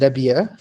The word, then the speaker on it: Rabia: hello my name is rabia it's very hard to say my name in english with the harsh h at the end and i'm a clinician